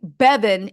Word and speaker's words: Bevan: His name sounds like Bevan and rhymes with Kevin.